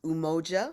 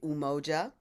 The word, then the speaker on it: umoja: principles so I'll teach you how to to pronounce them they're in ki Swahili uh the first principal is umoja so everybody say umoja and we sing that as umoja and we